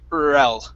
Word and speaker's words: or else: else okay and typically instead of saying or else and really pronouncing the or we say rel rel like it's one word one word or else